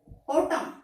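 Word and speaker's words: autumn: उसके बाद जैसे हिम, ऑटम, यहाँ पे एम और एन इकट्ठे आए हैं, यहाँ पर भी एम। अगर एम और एन इकट्ठे आते हैं तो एन कभी भी प्रोनाउंस नहीं किया जाता।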